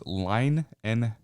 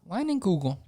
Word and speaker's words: Leinenkugel: I was going to say, it's a pronunciation of the brand name. Oh, where's that? It's Leinenkugel. I was close. Leinenkugel. Yeah. Leinenkugel.